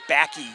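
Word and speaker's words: Baacke: ask how do you pronounce the last name it's spelled b double a c k e it's Becky olenik rims it up she recently had in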